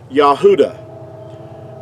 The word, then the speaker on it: Yahudah: this is like the pronunciation of the word Yahudah. Now, that's the way that you would pronounce it. Now, in our English, we say Judah, which is totally inaccurate because there's no J sound in ancient Hebrew.